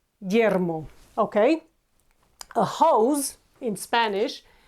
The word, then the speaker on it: Guillermo: A Spanish name for William is Guillermo. Guillermo. We have U between G and I, and we do not pronounce it. Guillermo.